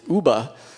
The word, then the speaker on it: Yuba: and that the word Yuba is a Nishnam word, which comes, and they pronounced it Uba, and it was a name that they had for serviceberry.